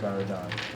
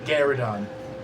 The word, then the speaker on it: Garudon: And he brings his head down to you, Baradon. Ooh, ain't you something? That's not how you pronounce his name. Garudon. Garudon.